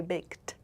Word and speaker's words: baked: I baked. This is past tense with that t pronunciation.